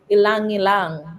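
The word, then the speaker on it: ylang-ylang: The other day I was introduced to Ilang Ilang. It's spelled YLANG and repeated, which is what Coco Chanel puts.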